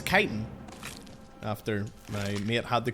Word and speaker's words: chitin: I used to think that this was called chitin, but it's chitin.